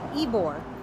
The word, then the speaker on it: Ybor: It's spelled Ybor, but it's pronounced Ybor.